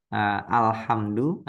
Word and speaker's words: alhamdu: Nah kalau ini alhamdu, berarti di tempat lain juga kita bacanya al, misalkan alhamdu juga ya Bu ya. Berarti al, tidak jadi el, tidak jadi ul.